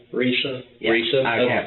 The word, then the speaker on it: Risa: Lisa with the R. Risa?